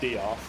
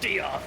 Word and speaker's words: Diarth: I dealt with somebody called Diarth, and I called them Death, and they were like, it's Diarth! And it's like, no, you spell it Death, I'm pronouncing it Death.